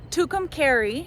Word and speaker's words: Tucumcari: I had to ask someone how to pronounce this town's name, but it's pronounced Tucumcari, and it's a big historic like Route 66 town.